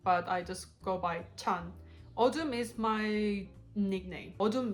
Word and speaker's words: Chan: It's Chanhee, but I just go by Chan. Odum is my nickname. Odum means darkness in Korean, but that's not my real name. My real name is Chan. And it's Chan, CH, not Tan, not Sun, like...